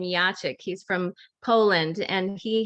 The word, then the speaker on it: Jacek: We've been calling him Jacek over the years. It turns out we pronounce his name Jacek.